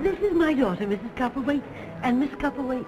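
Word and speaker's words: Copperwaithe: Copperwaite. And Miss Copperwaite, how do you do, my dear? Mrs. Copper what? I didn't get the last part of the name. Wait. Spelled W-A-I-T-H-E, but pronounced wait.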